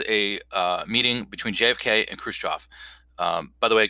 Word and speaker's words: Khrushchev: So in 1961, there's a meeting between JFK and Khrushchev. By the way, Khrushchev, that is pronounced the in Russian, the V at the end of the word is pronounced as an F.